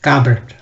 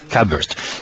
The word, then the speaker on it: Kabert: Its pronunciation is Kabert. Kabert.